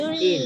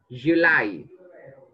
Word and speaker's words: July: In tháng 7 in my birthday in is Julie. In in Julie. No, not Julie. Từ nay mà đọc là Julie. Chữ này đọc là gì? July.